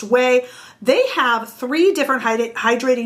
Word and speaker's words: Ouai: blown away by whey whey is of course o-u-a-i but pronounced whey they have three different